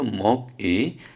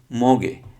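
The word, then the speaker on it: 먹이: এটা হওয়ার কথা ছিল মক ই, কিন্তু না, আমরা একটু পড়েছিলাম যে বাচ্ছিমের পরে যদি ইয়ং আসে তাহলে বাচ্চিম ওখানে চলে যাবে। সুতরাং এই গিয়কটা এখানে চলে যাবে, গিয়কটা উপরে গেলে তার উচ্চারণ হবে গ। তাহলে গিয়ক ই, গি, মগে।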